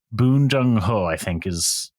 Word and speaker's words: Bong Joon-ho: directed he's fairly uh young as well um bong joong ho that's that's his name um he's directed um